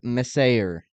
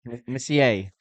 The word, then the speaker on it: Messier: one guess because I want to hear I want to hear you pronounce a couple of them first. Okay, I'll start with Mark Meser. Messier.